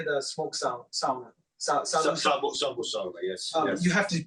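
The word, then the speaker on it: savusauna: Sabu sauna, yes.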